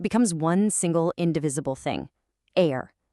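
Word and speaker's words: aĩr: Air. You pronounce it air.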